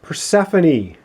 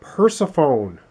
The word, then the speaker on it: Persephone: one is right here it should be pronounced persephone i've been calling it persephone oh my god i